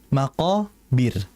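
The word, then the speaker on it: المقابر: Nah, maqobir rnya ini kan berarti mati ya, karena berhenti. Sebelumnya ada huruf ba, harakatnya kasrah. Maka kalau harakatnya kasrah sebelumnya, rnya jadi tipis. Jadi jangan dibaca tebal. Hatta zurtumul maqobir. Jangan maqobir. Jangan harus tipis ya. Maqobir bir tipis tapi tetap getaran ada itu.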